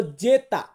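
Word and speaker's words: zeta: তারপর আছে জেড, জেড, এটাকে আমরা বলবো জেতা, জেতা মানে হচ্ছে জেড।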